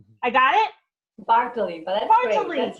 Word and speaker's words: Bartoli: Bartoli. I got it? Bartoli, but that's Bartoli.